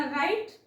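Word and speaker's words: write: okay R च्या अगोदर इथ पण तुम्हाला दिसेल आर च्या अगोदर जर डब्ल आलेला असेल तर तो सायलेंट असतो म्हणून याला वाचावा लागत आपल्याला राईट आणि दुसरा शब्द वाचावा लागेल रंग करेक्ट त्यानंतर बघा जी हे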